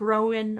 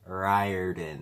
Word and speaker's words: Riordan: And it's Rick Rowan or Riordan presents. Rick Riordan.